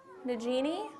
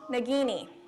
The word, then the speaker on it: Nagini: their name because I always say it wrong new Jeany Nagini it's from Harry Potter I am NOT a